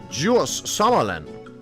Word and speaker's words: Djurs Sommerland: It is pronounced Jus Summerland because if you don't know I do not live in an English-sp speakaking country.